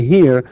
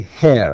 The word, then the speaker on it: her: And by the way, here, some people say hair, and it's not hair, it's actually her.